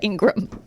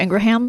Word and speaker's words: Ingraham: Extra syllable, ham, whatever. I thought it was just pronounced Laura Ingraham. Yeah, no, it's Laura Ingraham. Like Birmingham.